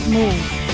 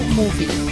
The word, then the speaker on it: move: Toda vez que as palavras terminarem com E, a gente não pronuncia o E, tá bom? A gente para ela, a pronúncia um pouquinho antes. Então vai ficar move e não movie.